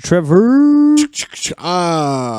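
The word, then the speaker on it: Trever: our very own Mr Trevor no that is Trevor not Trevor yes spell it right or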